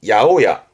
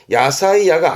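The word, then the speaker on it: 八百屋: 그래서 발음이 야오야. 야호야 뜻은 야채각입니다. 야호라는 건 800이라는 건 종류가 많다. 그 많은 여러 가지를 팔고 있다라는 가게가 야채 가게의 야오야. 야사이야가 아닙니다. 야오야. 야오야.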